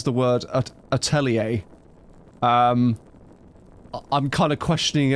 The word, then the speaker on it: atelier: I swear it's like meant to be atelier. and not Ortellier like how she says it, but it seems like it's Am I the one that's wrong?